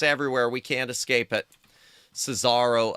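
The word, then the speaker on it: Susarro: Cesaro. Uh, sound like Bizarro. Not going to lie. Yeah. How's it spelled? It's, uh, here. I'll save. Uh, Suzaro is how it's spelled. S U S A R R O Suzaro.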